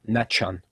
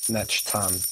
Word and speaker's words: Nechtan: It's just me, you, and Netchan, whatever his name is. Pronounce it. Nechtan. There you go.